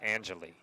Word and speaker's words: Angeli: Count one and two on Angeli. I think his name is properly pronounced Angelie.